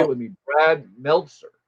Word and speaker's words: Meltzer: Brad Mzer, one of the few writers in comics who has stayed in the White House multiple times. There's an L. Brad Meltzer.